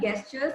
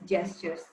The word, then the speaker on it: gestures: Then coming to the mispronunciations, I saw one thing which was mispronounced greatly here was the word gestures. It's not gestures, and it is gestures.